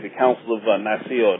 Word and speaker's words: Nicaea: You know, look at like the Council of Nicaea, or Nice, as some people pronounce it.